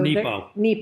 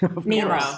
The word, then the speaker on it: Nepo: So Nepo. Mark Nepo. Did I say it wrong? Nemo.